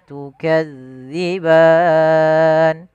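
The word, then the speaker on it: تكذبان: Fabiayyi rabbikuma tukadziban. Kemudian kuma mad thabi'i. Tukadzi. Hati-hati di dalam hafal huruf zal. Jangan sampai kita membacanya dengan bacaan huruf zai. Tukazziban.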